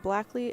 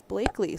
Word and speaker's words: Blakeley: Dan was pronouncing Blackley and it is Blakeley.